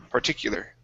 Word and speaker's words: particular: is the word particular so the u is an e u sound particular particular particular okay good